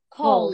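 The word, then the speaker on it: called: The pronunciation of this verb is cold. Listen, cold.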